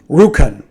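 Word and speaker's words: Rjukan: I'm going to try. It's a town in Norway. RJ Ukan. RJ UK an Norway. Ruken. Ruken. Yeah, let's do that.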